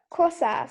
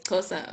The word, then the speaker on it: Xhosa: I couldn't really spell it much. How do you say it? Xhosa? Kosa, something like that. Yes, Xhosa.